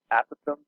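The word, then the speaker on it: apothem: it's not an opossum a possum it's actually pronounced a Pithom that's the proper direction after you can say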